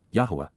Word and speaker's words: Yahowah: Revering and respecting, Yada Yahowah, Yahowah, the proper pronunciation of YYV3, our Eloah, God as